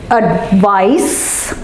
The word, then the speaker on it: advice: It's advice with an S and advise with a Z.